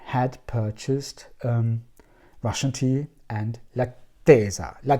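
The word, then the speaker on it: L'Attesa: I had purchased the Discovery set, and I had purchased Russian tea and Lattesa. It's pronounced like this.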